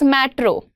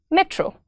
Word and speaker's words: metro: Alok says matro. It's not matro, it's metro. Gentle, lighter, shorter, right?